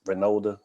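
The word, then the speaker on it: Reynolda: Is Renolda.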